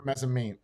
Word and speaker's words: mezzanine: mezzanine or mezzanine. How do you say it? Mezzanine. It's an N at the end. Neen. Yeah. Okay.